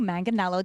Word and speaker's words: Manganiello: excited to meet especially Our Ladies it's Joe manganello did I get that correct the pronounce oh good awes so many people don't